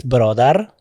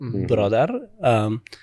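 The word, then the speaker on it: برادر: In Dari, it's brodar, which is the formal way of pronouncing the word, brodar.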